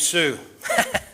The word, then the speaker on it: Hsu: The main thrust to oust, by the way, he's a man named Sue. That's his name. It's spelled HSU.